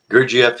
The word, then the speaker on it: Gurdjieff: The one book I couldn't pronounce. Gurdjieff? Pardon me? Gurdjieff? Yes, that's it. Gurdjieff, An Introduction to His Life and Ideas.